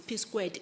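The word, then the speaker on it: P²: I'm saying P2 is about passionate people, because it's P squared, actually. That's how we pronounce it.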